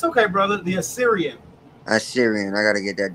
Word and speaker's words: Assyrian: Thou shalt he deliver us from the how you pronounce that word again? It's okay, brother. The Assyrian.